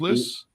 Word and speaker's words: Lyss: company and everything else harrison p is it lis pronounced list list yes sir there you go harrison p